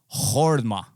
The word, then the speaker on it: Joma: Joma, as we would say, is pronounced with an H, kind of like in home, and the O is pronounced like in horrible, so like Horma.